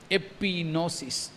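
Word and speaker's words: ἐπίγνωσις: AP plus नोसिस Greek में नोसिस बोलते हैं नॉलेज के लिए। तो एपिनोसिस जी साइलेंट है तो एपी मतलब टवर्ड्स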